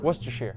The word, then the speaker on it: Worcestershire: Worcestershire sauce? You were close. Worcestershire.